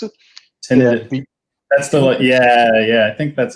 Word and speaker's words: tinnitus: Is that how you pronounce it? Yeah, Tinned, that's tinnitus.